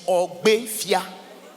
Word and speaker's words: Ogbefia: The real pronunciation is Ogbefia. It's an Asian word.